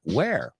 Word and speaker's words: were: a little bit, because if you put W-E-R-E con la palabra lobo, pues sí que se pronuncia where.